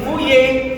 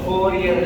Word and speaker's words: Fourier: Okay so it si fye pinik pinik makinig no fye fier yon no sa sa ating pag-uusap no o four year law kong kasanay Pero ito four year sa French Ano ba ang equation